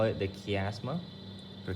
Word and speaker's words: chiasma: Okay, this region we call it the chiasma or chiasma or whatever you want to pronounce it.